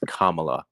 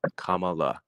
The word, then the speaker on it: Kamala: yourself that you still don't know how to pronounce her damn name properly. It's Kamala. Kamala.